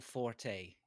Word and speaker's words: Forte: not Forte. Yeah. I don't Forte, think you'll whatever. find. I think you'll find it's not pronounced Forte. It's Fort.